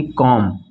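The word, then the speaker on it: comb: है उसके ठीक पहले अगर बी आता है तो वहां पे बी को नहीं पढ़ा जाता है वो साइलेंट हो जाता है ठीक है जैसे की कॉम यह जो सी ओ एम दी है कॉम मतलब क्या होता है कंघी होता है तो सी ओ एम बी कॉम इसको हम लोग यहां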